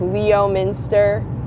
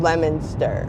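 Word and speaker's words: Leominster: and it lemoner okay so you spell it l e o um it looks like Leo Minster and even the GPS says it wrong but it's called lemonster and there are some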